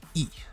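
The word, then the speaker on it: え: Pronounced E, eel, eel.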